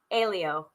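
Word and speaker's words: Hélio: and this makes sense in any sport hey leo elio elio castroneves thank you i should have gone to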